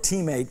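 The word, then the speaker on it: τιμή: honor is a is the greek word teammate and we spell it time t-i-m-e but it's teammate and it means to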